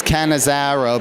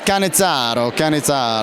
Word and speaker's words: Cannizzaro: Everybody says Cannizzaro, but you gotta. It's Cannizzaro.